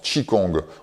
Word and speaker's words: qigong: circule dans le corps tchi kong qui s'écrit qigong se prononcent chi kong on peut le traduire